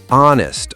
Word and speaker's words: honest: Honest also starts with a vowel sound, because the H is silent.